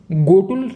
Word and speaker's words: गोटुल: पहले इसका प्रोनाउंसिएशन घ घड़ी से होता था, अब इसका प्रोनाउंसिएशन गाय से इसका प्रोनाउंसिएशन होगा। घ मतलब घोटुल ना कह के इसको क्या कहा जाएगा, गोटुल। ठीक है, घ की जगह इसका जो प्रोनाउंसिएशन है अब ग से होगा। इसे गोटुल के रूप में नोटिफाई कर दिया गया है।